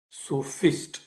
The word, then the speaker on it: sophist: as they are called it is s-o-p-h-i-s-t so fist so who were the